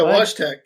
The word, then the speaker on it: Wojtek: No, it's like Woj. I'll just type it in the chat. No, I'm kidding. Here. Oh. Wojtek? Yeah, Wojtek. Wojtek, yeah.